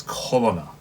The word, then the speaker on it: Corona: I know the text, it's written as Corona, as like coronavirus, but of course the way that the Japanese will pronounce it and the way that Tosan pronounces it, it's Colonna.